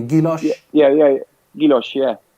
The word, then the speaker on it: guilloche: Yeah, guilloche.